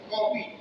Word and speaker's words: कॉफी: अर्धचंद्र लग रहा है मगर बिंदी नहीं लग रही है, इसका उच्चारण आप थोड़ा सा ओठ को खोल करके करते हैं। कॉफी, doctor, office, college.